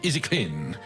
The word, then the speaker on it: Easy Clean: Alors prononcer Easy Clean de Easy Clean.